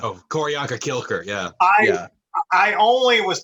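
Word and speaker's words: Q'orianka: It is Q''ORIANKA, Koryanka. Oh, Koryanka Kilker, yeah.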